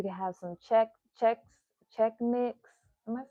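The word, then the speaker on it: Chex Mix: like um you can have some check check check mix am I saying it right check mix is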